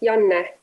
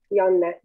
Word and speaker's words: Janne: Yes, Janne. Like with mm-hmm. Like what? Like with Y, Janne.